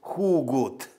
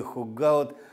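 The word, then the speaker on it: Hooghoudt: Скорее всего, все-таки фамилия его Хугут. Вот видите, вот здесь вот написано «Суджман Барент Хугут» – его годы жизни. Этого голландца, который работал в Соединенных Штатах, оттуда и странное произношение его фамилии Хугаут, хотя по транскрипции Хугут.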